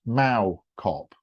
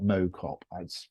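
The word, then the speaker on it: Mow Cop: um and it's this place uh it's a village is actually pronounced Mao Cobb Mao like how not Mo cop I'm going to get that wrong during this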